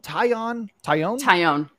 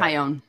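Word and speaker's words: Taillon: Is it Tyone? Tyone. Yep, Okay. Tyone. I've heard it pronounced all the different ways.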